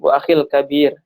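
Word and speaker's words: وَأَخِي الْكَبِير: ini bacanya nggak disambung ya Ustadz ya? Wa akhi al-kabir gitu ya Ustadz ya? Disambung, bisa disambung. Wa akhil kabir.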